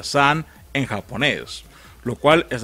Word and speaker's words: Sun: bien en japón la pronunciación de song se pronuncia sanz en japonés lo cual es la misma palabra